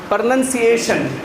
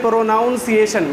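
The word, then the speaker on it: pronunciation: ये आपको सिखाया जाएगा प्रोनंसिएशन प्रोनंसिएशन कुछ स्टूडेंट इसी को बोलेंगे प्रोनाउंस एशन that is नॉट प्रोनंसिएशन that is अ प्रोनंसिएशन प्रोनंसिएशन कुछ जैसे कुछ उर्दू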